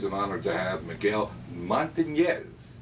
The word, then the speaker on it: Montanez: And today, we're very pleased and honored to have Miguel Montanez. Got to pronounce that correctly. As in- Those of you who are old enough will remember, in the Philadelphia area, Willie My Montanez.